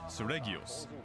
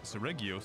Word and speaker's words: Seregios: First off, we have Seregios, the flagship monster.